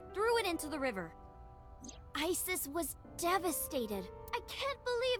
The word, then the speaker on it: Isis: horses mom has named Isis but in ancient Egyptian it's pronounced closer to ISA or ASA hmm how do I